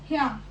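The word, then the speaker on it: ひゃく: ही के बिल्कुल साथ छोटे साइज में या, ह्याकू. अब इसको आप कैसे प्रोनाउंस करेंगे, ह्या. आप इसको ही या प्रोनाउंस नहीं करेंगे, इसको आप ह्या प्रोनाउंस करेंगे, ह्या, ह्याकू.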